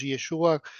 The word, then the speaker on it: Yeshua: propio real de Jesús, que era Jesús Yeshua, como se pronuncia allá.